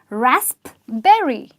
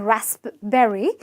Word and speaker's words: raspberry: with a pee but let me tell you that the P is silent and a lot of people call this fruit rasp berry no there is no rap in raspberry because that is absolutely